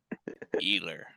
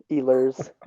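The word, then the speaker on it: Ehlers: in the mid 2000s nicholas healer healers it's nikolai yeah eelers i'm not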